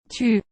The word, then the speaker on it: tu: These two words sound different. Tu. Tout. To pronounce the OU sound, think soup.